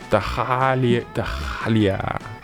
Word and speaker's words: Dahlia: From now on, I declare that everyone will pronounce the H in my name. Never again shall the H be silent. Not to interrupt this passionate declaration, but I think it's kinda impossible to pronounce that H. The silent H is very well established grammatically.